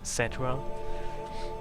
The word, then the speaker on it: Cetra: Well, only because they say it's supposed to be pronounced Cetra.